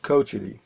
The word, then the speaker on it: Cochiti: pronounced but it's actually pronounced Cochiti okay coach it okay I won't remember